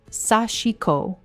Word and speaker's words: sashiko: This tradition is called sashiko, pronounced sashiko, and its original purpose was deeply practical.